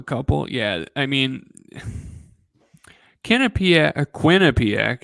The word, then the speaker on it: Quinnipiac: yeah I mean kenip Quinnipiac excuse me I'd say it like you know Quebec no one says qubec that I've met anyways but um Quinn